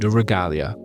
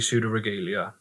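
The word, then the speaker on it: Pseudoregalia: beautiful dream in sud sudo regalia imagine I've made a massive fuss about pronouncing the name right and it's actually pseudo regalia pseudo regelia oh for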